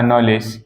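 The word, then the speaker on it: knowledge: जैसे एग्जांपल में मैंने कहा एग्जांपल मैंने कहा नॉलेज के एन O double L ई डीजीई नॉलेज देखो भाई डी साइलेंट रहा कि नहीं हमने इसका कहीं भी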